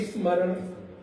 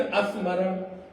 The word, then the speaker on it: स्मरण: अब हम लोग कोशिश करते हैं स्मरण जैसे बोलना हो, अगर हम लोगों को स्मरण बोलना हो तो देखिए क्या बोलेंगे, स्मरण या फिर अस्मरण।